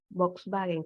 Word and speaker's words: Volkswagen: que pasa es que en el Alemán la v se pronuncia como F los carros Volkswagen que los hayamos decir nosotros se